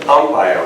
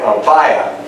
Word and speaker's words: Ampaya: and in some countries, they say Ampaya with an accent over the A to make the pronunciation match the English. But in Cuba, they mostly say Ampaya, and so I've already gotten like criticism, it's spelled wrong, etc.